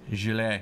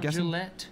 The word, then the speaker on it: Gillet: Which should be in the music section technically, but Gillet. Gillet. Not Gillette.